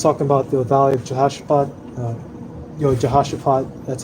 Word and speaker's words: Jehoshaphat: Almighty so let's talk about the valley of Jehoshaphat that's how you say it the well that's